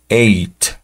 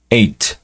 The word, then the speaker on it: eight: no es tan complicado vamos a omitir la la H como si no existiera obviamente no no no suena en nuestro español eh posteriormente veremos Cómo Sí suena en inglés cómo se produce pero este lo vamos a pronunciar el número ocho como eight eight y la t es como en el dos un poco escupida eight eight para el número